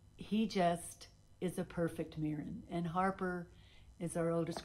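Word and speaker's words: Meadhran: and mirin and uh mirin is spell is uh named after the patron saint of football because their family are football fanatics and his name is spelled m e a d h r a n and he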